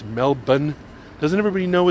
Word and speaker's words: Melbourne: hogmanay and in Edinburgh and know that it's pronounced Edinburgh and hasn't everybody been to Australia and knows that it's not Melbourne it's Melbourne doesn't everybody know it's Melbourne and Edinburgh come on people educate yourself get